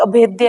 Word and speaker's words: अभेद्य: अगर हम अभेद अभेद्य, अगर इसको प्रोनाउंस करें तो कोई क्या करेगा, भेद अभेद, तो वही बात हो गई ना। लेकिन अगर इसको हम ढंग से प्रोनाउंसिएट करें तो अभेद्य है, वो द है।